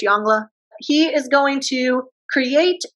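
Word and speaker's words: Yongle: tribute so Emperor yla I know it's spelled jongle if you want to pronounce it that way to help you remember how to spell it's fine I'm pretty sure it's jangla he is going to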